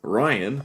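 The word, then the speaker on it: Rhyan: to my parents, where it's Ryan, but spelled R-H-Y-A-N. And yes, it works like that, even though that's not the pronunciation. If you go back to, like, Gaelic culture, which is where it's based from, and it should be Ryan or Rayan. But it's Ryan because they picked it's Ryan,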